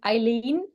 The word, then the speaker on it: Aylin: Actually, you would say my name, Eileen, like Aylin? "Come on, Eileen," "Come on, Eileen," the song from the 80s.